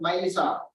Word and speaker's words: MyLisa: The department initiated Librarians Association is called MyLisa, rhyming with the name Mona Lisa.